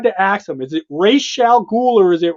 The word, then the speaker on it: Ra's: ask him, is it Ra's al Ghul or is it Ra's al Ghul? Because it's Ra's. It's Ra's. He said it for me. He goes, it's Ra's.